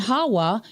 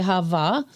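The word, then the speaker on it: חוה: we are shown that Adam and Hawa, in modern Hebrew they say Hava, but we don't believe there was ever a V sound in ancient Hebrew. In fact, even the Jewish Encyclopedia, which I'll take you there, admits that it was a wa. It was a Hebrew letter wa, not a vav.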